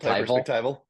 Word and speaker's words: perspectival: this multi perspect I don't know how to pronounce that word pect perspec perspectival yeah multi perspectival yeah multiperspectival and integral Theory